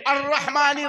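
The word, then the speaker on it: الرحمن: तौर पर बता दूं जब अल्हम्दुलिल्लाह र आलमीन के आगे पढ़ेंगे अर रहमान रहीम अर रहमान रहीम तो आप लाम को नहीं पढ़ रहे हैं अल रहमान लिखा है लेकिन अर रहमान पढ़ रहे हैं तो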